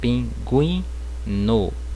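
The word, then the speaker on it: pingüino: Diéresis é o trema, certo? O trema ele não existe mais no português, mas no espanhol ele continua. Então, quando o trema aparecer, certo? Como aqui na palavra pinguino, certo? Então eu vou pronunciar essa letra, certo? Então eu vou pronunciar pinguino, certo?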